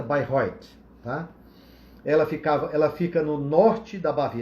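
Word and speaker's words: Bayreuth: 2018 tá se chama Bairro Oitis é se Bairão né mas a pronúncia certa by Roy tá ela ficava ela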